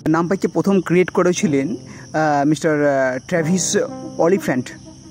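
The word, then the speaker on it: Travis Oliphant: প্রথম ক্রিয়েট করেছিলেন mister ট্রাভিস অলিফ্যান্ট যদি আমি উচ্চারণটা ঠিক করি টি আর এ ভি আই এস আর সারনেমটা হচ্ছে ও এল আই পি এইচ এ এন টি অলিফ্যান্ট I think 2005 সালে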